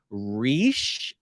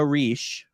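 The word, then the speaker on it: Reiche: them their father is Joe rich is how I've always pronounced it it's like r-e-i-c-h-e and he was declared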